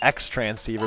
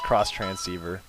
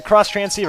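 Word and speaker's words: Xtransceiver: cross train transceiver um they call it the X transceiver but it's actually pronounced cross transceiver yeah she's going to heal you up with her magical healing powers um yep the cross transceiver a lot of people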